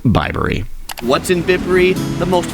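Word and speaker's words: Bibury: I was thinking about bibs, so that's where that came from, but it's pronounced Bibery.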